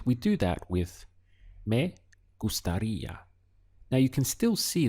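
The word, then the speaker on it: gustaría: end of it and it's very important that you stress this part here over the eye where you can see the accent so the sound is gustaria how you express i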